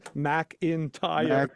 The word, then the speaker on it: McIntyre: On here, it's written MAC-IN-TIRE, McIntyre.